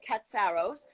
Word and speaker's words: Katsaros: of the father uh which is cat sorrows and that's how they pronounce it in the usa now in greece my